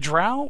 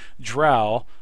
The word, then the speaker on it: drow: Is it drow or drow? Well, drow comes from the Arcadian Scottish tro, rhymes with cow, so it would be drow, not with toe. So it's not dro, it's drow.